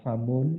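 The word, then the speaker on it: فَمٌ: Ya, jadi pada famun itu bacanya famun. Famun. Famun. Ya. Kan itu tidak ada matnya toh. Hanya fa dan mim saja. Kemudian juga tidak ada sadahnya.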